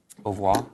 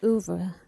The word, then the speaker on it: oeuvre: Au revoir? Or I say oeuvre.